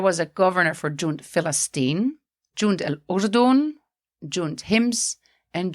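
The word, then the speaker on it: فلسطين: as a B, or in this case, it was changed into an F. So instead of Palestine, it became Falastin. And that is why Arabs will say Falastin instead of Palestine or Palestine.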